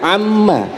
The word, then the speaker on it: Amma: belakangnya doang juz 30 Surah pertamanya itu surah an-naba bacanya Amma yatasaalun dibacanya Amma makanya tuh Juz 30 disebut Juz Amma tuh nambah ilmu kan